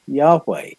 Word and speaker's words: Yahweh: into arabic letters is y h w h you insert vowels into that to make it pronounceable and the h's disappear yahweh but in proto-semitic proto-northwest semitic you pronounce those h's it's the same and